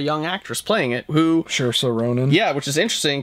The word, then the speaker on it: Saoirse: But, and after Saoirse. It rhymes with inertia. That's right. After Saoirse Ronan was cast for